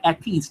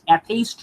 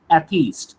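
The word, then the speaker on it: atheist: অ্যাথিস্ট, অ্যাথেইস্ট নয় কিন্তু, থিস্ট, অ্যাথিস্ট।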